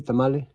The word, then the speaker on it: tamal: You ever eat a tamale? It's actually pronounced tamal, singular. Tamal is plural, but let's go with tamale.